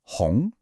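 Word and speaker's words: 红: The correct way to say it is hong, second tone. Listen to how my voice goes up.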